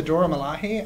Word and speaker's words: Dora Milaje: So here's the Dora Milaje, I believe it's pronounced.